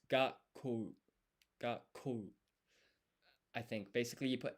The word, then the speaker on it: 学校: So this basically, you don't pronounce it, and it basically means take a break and then pronounce the next consonant with some more emphasis.